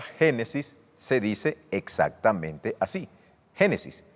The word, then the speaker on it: Génesis: refiere específicamente a la atmósfera al cielo atmosférico génesis 11 es el principio de todo curiosamente en el idioma griego la palabra génesis se dice exactamente así génesis y significa principio a su vez la palabra